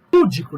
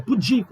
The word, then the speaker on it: pudico: Púdico, não é pudico, não tem acento.